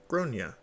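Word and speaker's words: Gráinne: She asked what I meant, and I said, well, in Ireland, they typically pronounce it like Gronia.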